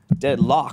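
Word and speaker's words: Deadloch: Oh, it's spelled L-O-C-H. Deadlock. Yeah. Like a lock.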